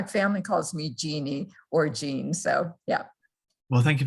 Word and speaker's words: Jean: your name is pronounced jean or gian but thank you so much um and it depends on if you're french it's jean and i pretend to